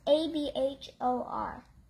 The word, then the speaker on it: abhor: Soft H. But it's not silent. It's a soft H.